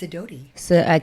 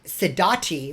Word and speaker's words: Sidoti: Yes, Sidoti. Everyone says Sidoti, but it's Sidoti.